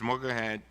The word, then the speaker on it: Mogahed: Mogahed, am I pronouncing it right?